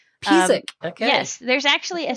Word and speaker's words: Pisek: How do you say it? You say it Pisek. Pisek.